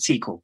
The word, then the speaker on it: SQL: care does it go well actually it's called a sequel but yeah it's whatever you call it sequel was fun